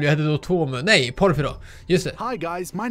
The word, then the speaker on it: Porfirio: Nej, Porphyro.